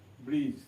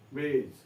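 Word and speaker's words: bridge: ব্রিজ, তাকে ডি উচ্চারণ আসছে না। ব্রিজ, ডিটা উচ্চারণ আসছে না।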